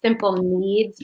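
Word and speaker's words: Simple Kneads: s-i-m-p-l-e and then me so that's spelled k-n-e-a-d-s a simple needs bread um and that one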